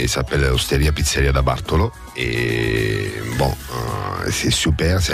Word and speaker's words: Bartolo: Est-ce que je prononce bien? Bonjour Bartolo. Isabelle, bonjour à tous. Bonjour Bartolo. Alors, comment on dit Bartolo? Bartolo.